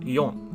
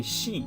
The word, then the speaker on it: 四: off the box and it's pronounced as yawn so i'll write it